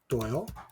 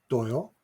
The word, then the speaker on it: Doyle: and then oil Michael Doyle then three phonetically. So, how about cycle for Michael and Royal for Doyle?